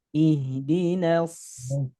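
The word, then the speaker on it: اهْدِنَا: Nah, di sini H-nya hak sukun, maka dialirkan suaranya. Kemudian dari segi suara ada gema ya. Ih, ihdinas, ihdinas.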